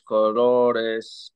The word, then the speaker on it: colores: La palabra colores. Colores. Porque si dice esta de aquí, pues si dice calores, that's when it calories?